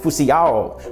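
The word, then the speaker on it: φυσιόω: up, which actually comes from a Greek word pronounced phusiao, which literally means to inflate with air, which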